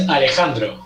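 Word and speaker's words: Alejandro: it's so funny so your real name is alexandro yeah like the lady gaga song yeah yeah of course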